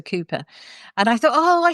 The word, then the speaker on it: Cowper: called Cooper, but actually it's spelled c o w p e r. So, lots of people call him Cowper, but actually it's a Cooper.